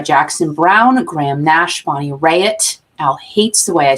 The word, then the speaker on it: Raitt: The activist group was put together by Jackson Browne, Graham Nash, Bonnie Raitt.